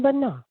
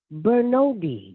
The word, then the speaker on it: Bernod: The French people would say, Bernod. And if I went to Brazil, they would say, Bernard. And then I go other places, they say, Bernodi.